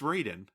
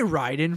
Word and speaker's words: Raiden: right but right but but it's spelled r-a-i-d-e-n you could say Ryden from that it's Raiden even in the song